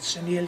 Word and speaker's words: Cerniglia: name of Jimmy Cerniglia, we call it Cerniglia because the G is silent, and he was known as the Tomato King.